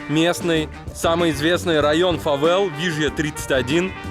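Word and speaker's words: Villa 31: Вот из окон этого Шератона виден местный, самый известный район фавел Вижья 31. По-английски Вилла 31 пишется. Здесь 2Л читается как Ж.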